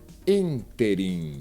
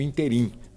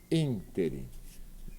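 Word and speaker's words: ínterim: E a resposta errada é a primeira, porque nós dissemos interim, não interim. É a antepenúltima sílaba que é forte, ela é pronunciada interim.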